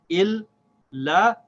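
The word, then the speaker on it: إِلَّا: Il, la.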